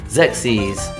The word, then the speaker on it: Xerxes: And it's almost like I'm too sexy pronounced, and I know I actually had to go look this up because every way I said this as a kid was wrong. So Xerxes.